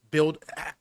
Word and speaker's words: BUIDL: So, can you give us a breakdown on this build build? How do I pronounce it, dude?